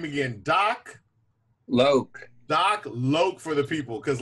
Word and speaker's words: Doc Loc: like you were saying how do people like to pronounce it DOC lock L it it it Rhymes so they just kind of immediately go for that's how I would saying I was like oh doc lock what they almost they